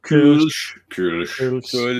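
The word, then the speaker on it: Kölsch: Kolsch.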